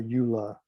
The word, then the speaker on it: EULA: so whenever you there's something called a eula that's how it's pronounced it's called the end user license agreement or ula as you can see here so you and